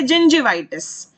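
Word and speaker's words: gingivitis: इसकी प्रोनाउंसिएशन क्या है, जिंजिवाइटिस, जिंजर जैसे बोलते हैं ना वैसे जिंजिवाइटिस, मसूड़ों में सूजन, बीमारी है ये।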